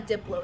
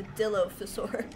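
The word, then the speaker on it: Dilophosaurus: things Dill fur oh that's how you say it's not a Diplo it's a Dillo faur it's not the DJ it's the dino what am I going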